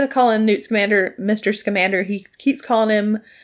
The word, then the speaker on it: Scamander: calling newt's commander mr scamander he keeps calling him uh mr scamender okay and it bothered me so much because i'm like no it's newt scamander like come on yeah sorry i feel